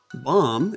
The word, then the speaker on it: bomb: sound at the beginning bomb is not bomb but there's that silent B at the end sign as a silent